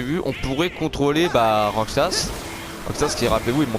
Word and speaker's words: Roxas: Mais sinon genre les gens qui jouent avec moi ça se prononce pas Rosax, ça se prononce Roxas en fait.